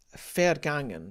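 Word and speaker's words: vergangen: german spelling is that a v is pronounced as an f so it's a fair game it's unvoiced fairgen vas fergangen same thing alfreshdean we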